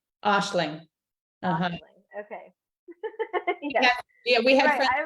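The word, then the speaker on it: Aisling: would look at that and go oh it's Asing but it's probably not right how to pronounce here and so here's this on YouTube how to pronounce yeah Ashling ashing Ashling okay yeah we had I would say like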